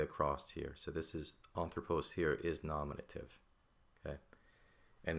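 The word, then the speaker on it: ἄνθρωπος: But as is with anthropos, because the spelling of this word, the accent is on the third to last syllable, or the first syllable here, coincidentally, that is just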